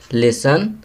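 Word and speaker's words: listen: नॉट, यहाँ के silent letter लिखेंगे. लिसन, यहाँ टी लिखेंगे.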